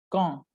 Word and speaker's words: quand: On va pratiquer question avec le mot interrogatif quand. Quand. La U et la 2 ne se prononcent pas.